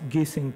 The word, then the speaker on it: Güssing: forgive my pronunciation, but I think it's pronounced Güssing properly.